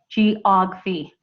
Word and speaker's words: geography: Okay, so geography is going to be, remember, the G is pronounced with a J, geography.